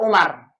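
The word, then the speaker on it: عمر: Tulisannya ain, mim, ra, gundul. Pastikan kalau ain, mim, ra berarti dibaca Umar. Dibacanya apa? Umar. Umar ini karena polanya fu'alu,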